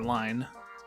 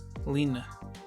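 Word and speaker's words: Lynne: pronunciation of her name, I was calling her Line. It was Lena. Let's just go with Lynn.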